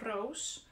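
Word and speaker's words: Roos: a bit confusingly written it's written the dutch way which is pronounced rose so feel free to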